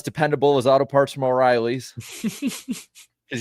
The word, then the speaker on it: O'Reilly's: It was about as dependable as Auto Parts from O'Reilly's. Because, they won't say it right. They'll say O'Reilly's. Yep.